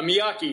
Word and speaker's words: Miyaki: second name properly uh Miaki yeah I have it's like Mr Miyagi but with a K instead of the G yeah um I I'd